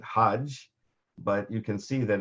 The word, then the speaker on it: Hajj: related languages and in for most of the arabic-speaking world the G there's not there's the hard G sound the G is the soft G sound so they pronounce it Hajj but you can see